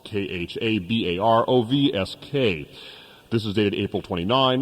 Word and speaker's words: Khabarovsk: He is the director of the Far Eastern Agricultural Research Institute of Khabrovsk, which is Khabarovsk.